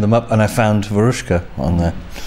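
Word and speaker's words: Veruschka: My favorite song is Verushka. Is that correct? Or how do you say it? Verushka. Verushka, yeah.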